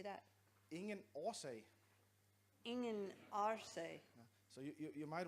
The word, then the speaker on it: årsag: Ingen årsag. Ingen årsag. So you might want to, on the second word, it's actually a double A, so it's pronounced or.